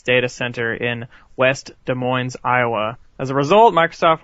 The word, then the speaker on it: Des Moines: data center in West Des Moines, Iowa. As a result, Microsoft will receive $20 million. Des Moines. You don't pronounce the S. Fuck you, I don't know geography. Anyway, Microsoft Des Moines.